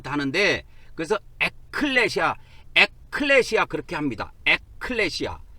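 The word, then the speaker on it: ἐκκλησία: 합해서 된 단어인데 그래서 에클레시아 에클레시아 그렇게 합니다 에클레시아 발음을 할 때는이 크 발음을 밑에다 넣어 가지고 에클레시아 그래요 교회를 이게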